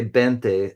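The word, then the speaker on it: veinte: Yeah, a V, you say 20. A V for like 20 is 20, and you pronounce it with a B sound.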